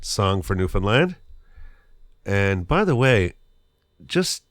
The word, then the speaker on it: Newfoundland: Newfoundland, it's not Newfoundland, it's not Newfoundland, it's Newfoundland. So there's a little rhyme that we tell people to help them remember how to pronounce this place as defined from within. This little rhyme is quite simple. It's understand Newfoundland.